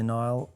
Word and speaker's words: Niall: Hi Niall. I think it's actually pronounced Neil actually.